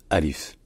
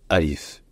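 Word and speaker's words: ألف: l'alphabet elle est appelé Alif Alif attention il n'y a pas de a long ni de il long c'est juste Alif en commençant par Hamza par un coup de glotte Alif en revanche donc au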